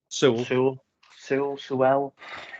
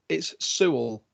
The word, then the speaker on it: Sewell: my favorites I know I swell silverwell it's because they spell it wrong it's Sewell I know because I